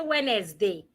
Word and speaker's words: Wednesday: So, you don't say Wednesday. Wednesday.